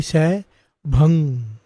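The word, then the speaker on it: सैभं: भंग नहीं है, अजूनी सै भंग, सै भंग गुर प्रसाद। लास्ट में जी नहीं आता, ग नहीं आता, अजूनी सै भंग, अजूनी सै भंग, ये शुद्ध उच्चारण है, भंग ग नहीं।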